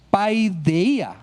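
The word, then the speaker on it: παιδεία: encontramos que viene del griego 3809, que se pronuncia paideia.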